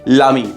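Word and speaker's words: l'amie: और लामी की स्पेलिंग में अगर ई लगा हुआ है एंड में तो ये हो गया फेमिनिन सिंगुलर, फेमिनिन सिंगुलर, लामी। प्रोनाउंसिएशन एक ही है।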